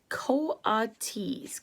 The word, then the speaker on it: coatis: mrs brisbane said reading from them pronounced co-autis coates the coatis looked weird